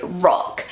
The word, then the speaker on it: Rock: this in German and that is the word rock and rock you know it means a big